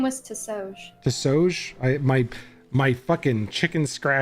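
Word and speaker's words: Ti'sohj: okay so it was t i apostrophe s-o-h-j and I think we pronounced it to soj that is correct yeah nope that makes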